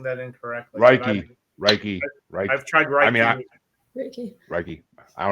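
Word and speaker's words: Reiki: I'm pronouncing that incorrectly raiky I've tried raiky raiky I don't know I think it's reiky at least I think it's raiky but yeah I think it's raiky like you're raking the lawn yeah what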